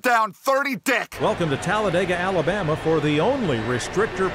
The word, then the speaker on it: Talladega: Turns out it was just stolen from me as I was pickpocketed down on Talladega Boulevard. Yes, the track is Talladega, or Talladegs, if you pronounce it like me, an imbecile.